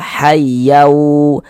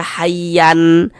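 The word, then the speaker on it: حيا: Bunyi tanwinnya dimasukkan ke huruf wau. Kita baca hayyau jangan dibaca hayyan.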